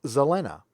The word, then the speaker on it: Zelena: So Zelena, pronounced Zelena, is a member at the Jaloja level.